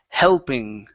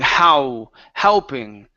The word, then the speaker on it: helping: Give me a good L sound here. It's helping. Helping. Okay, so you're pronouncing an oo. You're saying how, helping. Okay, so when you pronounce that L, okay, it's a tongue movement, not a lip movement.